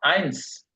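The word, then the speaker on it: eins: হচ্ছে সেট সেট সেন সেন সেন সেন সেন উচ্চারণ হলো সেন সেন হ্যাঁ এবার দ্রুত বলেন তো আট এক থেকে এক থেকে ইনসুই আইনস আচ্ছা আইনস আইনস জুই জুই না সো আই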